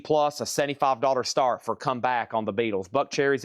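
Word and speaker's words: Kum Back: Comeback is the Beatles boot. That's spelled K U M.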